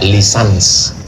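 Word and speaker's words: licence: LC itu singkatan dari licenc tulisannya licen C. Cara membacanya lisans.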